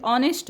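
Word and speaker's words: honest: H silent आहे पहा H silent ऑनेस्ट मध्ये आहे बघा ऑनेस्ट याच्यामध्ये एच ह नसतं ऑनेस्ट म्हणत नाही आपण ह नाही वाचायचं तर ऑनेस्ट ऑसूनच वाचायचंय कारण एच सायलेंट आहे सायलेंट म्हणजे काय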